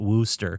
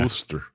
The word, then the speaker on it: Worcester: It's w o r c e s t e r and they pronounce it Wooster. Yeah, Wooster.